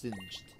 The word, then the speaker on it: singed: I almost said synced, but it's technically pronounced singed.